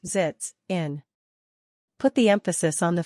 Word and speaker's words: sitzen: verb for sit is siten the verb is pronounced zits in put the emphasis on the first syllabus in